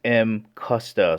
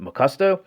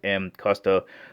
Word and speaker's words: Mcusta: below all right before beginning the actual correct pronunciation is M custa so there's a lot of people out there pronouncing it macusto which is fine too they're going to understand